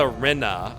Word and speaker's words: Rinna: Pronounce it like Rima, but with an N. Oh, Lisa Rinna.